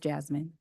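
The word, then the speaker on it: Yasmin: of a Y no it is with the Y Jasmine y a s m i n but it's pronounced Jasmine right but it's spelled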